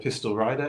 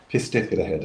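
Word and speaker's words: Pistyll Rhaeadr: So yeah, I mean, one of my favourite places is a place called Pistol Rider in Wales, which I've pronounced wrong.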